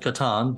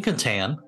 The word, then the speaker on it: Catan: Some people might pronounce it Catan, but I'm going to pronounce it Catan.